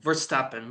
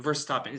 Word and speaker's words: Verstappen: How do I pronounce this? Tappen, How do I say his last Verstappen? Verstappen. Verstappen.